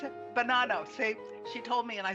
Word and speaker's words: Bonanno: Did I pronounce it? Bonanno. She told me and I still got it wrong. Bonanno.